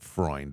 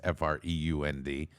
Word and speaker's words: Freund: That's how you pronounce it, Freund. It's Freund, who's the chief executive officer of Diamond Baseball Holdings.